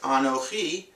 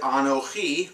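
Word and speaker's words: אָנֹכִי: The sound for the beginning of the word Anochi is this vowel, the kamatz, which we pronounce as ah. Some who were raised in a more Ashkenazic pronunciation would say aw, but we pronounce it in Israel today as an ah sound.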